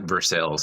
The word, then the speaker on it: Versailles: Just they pronounce it Versailles here in Kentucky.